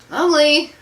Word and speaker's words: Mowgli: I was like, Mowgli. Yeah. And it's pronounced Mowgli.